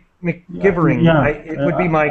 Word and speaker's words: McGivering: The MC gives a Mick sound, so McGivering. McGivering, yeah, it would be my guess.